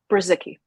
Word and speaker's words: Brzycki: Brzycki.